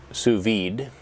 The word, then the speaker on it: sous vide: I looked up how to pronounce this, and I'm going to fail miserably. Sous vide at 190 degrees Fahrenheit for 2 hours and 4 hours.